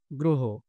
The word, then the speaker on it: গ্রহ: শুক্র গ্রহকে বোঝায়। এরপরে দেখো গ্রহ। গ্রহ উচ্চারণটা গ্রহ না, গ্রহ।